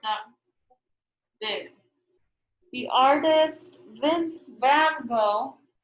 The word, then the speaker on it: Gogh: The artist Van Gogh, it looks like it's spelled, it sounds Gogh, but it's supposed to go.